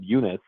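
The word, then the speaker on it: Junis: which uh when we did sign uh Jacob Eunice I think I'm pronouncing that correctly oh yeah that's right you are yeah Jacob yunice has been one of the guys that we've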